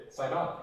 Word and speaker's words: Sidon: an N to no no that's how it's pronounced in English sidon what's the top Lebanese dessert I was F